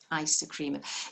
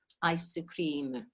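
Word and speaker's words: アイスクリーム: ice cream ice cream the the ice bit it isn't much different than ice in english it's just got a really soft boo at the end and the only little thing is you lengthen what we do in english the cream is actually long in the middle so you lengthen it to cream ice cream ice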